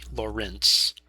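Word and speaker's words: Lorentz: physicists named Lawrence uh with various spellings of pronunciations. This one is L O R E N T Z. Laurance.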